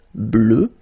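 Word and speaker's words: bleue: at the end okay phonetically it doesn't exist because you don't pronounce it so you get blue as you would get for the masculine form okay but still you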